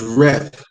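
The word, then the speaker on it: ריב: They spell it chide, C-H-I-D-E on here. But it's rev.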